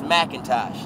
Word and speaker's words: Macintosh: the the the producer it's MacIntosh and it's spelled all the way out it's not Mac not like apple it's Macintosh some old